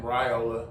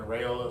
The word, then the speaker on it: Raiola: I've heard some people pronounce his name Raiola, but the more consistent pronunciation has been Raiola, so Dylan Raiola.